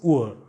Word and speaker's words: Uhr: Clock is Uhr. Uhr. So this letter R is appearing in the end, so you don't pronounce it.